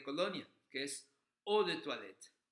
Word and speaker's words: toilette: que es eau de toilette. O la palabra para agua se escribe E-A-U. Tenemos toilette. Toilette, volvemos a tener ahí una vocal compuesta, que es el sonido OI que genera el UA.